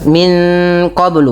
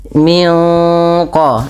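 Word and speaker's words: من قبل: tidak lagi terbaca minqoblu bukan tapi minqo ya minqo min qoblihim yang di mana suara nunnya disamarkan kepada makhraj daripada huruf qaf yang berada di pangkal lidah kita.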